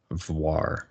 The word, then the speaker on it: Voir: look at it V it's Noir but with a V so he he had